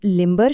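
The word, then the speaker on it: limber: पर खत्म होता है, लेकिन लिम्बर शब्द के बारे में क्या? यहाँ हम साफ साफ ब की आवाज सुनते हैं, लिम्बर।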